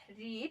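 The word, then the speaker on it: read: रीड first form यहाँ पे रेड, रेड है, ठीक है, यहाँ पे रेड है, यहाँ पे रीड है, ठीक है, स्पेलिंग सेम होती है, इसलिए आप कंफ्यूजन ना हो, ठीक है।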